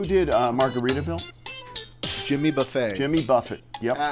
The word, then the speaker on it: Buffett: Jimmy Buffett. Yep. It's pronounced Buffet.